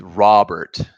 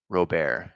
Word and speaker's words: Robert: It's Robert, says Ignacio Suarez Infante. Robert is how it's pronounced. See, like I've always said Robert with a rolling R. Oh, with a rolling R, like Robert.